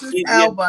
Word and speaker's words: Elba: because I think they're going to get Idris Elba. That's how you pronounce his name? Yeah, Elba.